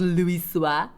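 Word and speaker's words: Louisoix: You're telling me it's actually pronounced Louis Suaz?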